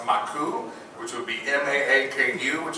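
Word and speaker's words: マーク: But, a little odd fact here, Mark, if you take Mark and you say it in Japanese, it would be pronounced Maku, which would be M-A-A-K-U, which is an anagram of Akuma, which means demon in Japanese.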